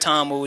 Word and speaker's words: Damu: They in Shaolin, gave the monks a lot of discipline, and it's pronounced Tamu, Damu.